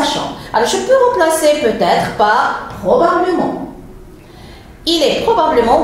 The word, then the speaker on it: peut-être: Quand je ne suis pas sûr, je dis peut-être. Et vous voyez, vous entendez la liaison peut-être. Ça veut dire peut s'écrit avec un T. J'ai fait ici la liaison.